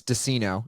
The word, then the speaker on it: Deseno: your last name uh it's dinino it's like Cino with a d okay so like they're afraid to be like yo what's up I'm on a podcast right now with dinino H Pro Tools this